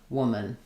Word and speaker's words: woman: And then this letter o is going to be the uh vowel like in should or push or good. So it might help you to think of it as like a u w or an o u like we have in would. And then men woman.